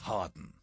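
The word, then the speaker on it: Hawarden: dot I'm very quickly at the first castle pronounced Harden this is the ruin of a Norman stronghold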